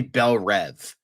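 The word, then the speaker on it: Belle Reve: It's supposed to be Bel Rev. It's Belv. Everyone pronounce it Bel Ree and it annoys the out of him.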